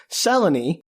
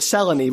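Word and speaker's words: Selene: immigrate and he meets seleny who spells her name Seline because moon but insist on pronouncing it seleny which kind of reminds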